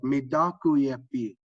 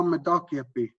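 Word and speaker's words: mitákuyepi: And so when I say it, ha medakuyepi, ha medakuyepi, that's how we should all strive to say it, in a way that's comfortable, that comes from inside.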